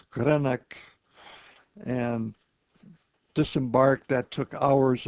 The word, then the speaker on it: Greenock: That was about a day and a half out of Scotland, landed in Greenock, which the Scots pronounce Greenock, and disembarked.